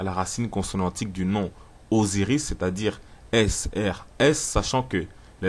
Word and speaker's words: Osiris: en lingala et d'ailleurs osiris se prononce avec la lettre z mais on l'écrit avec la lettre s tout comme cousin en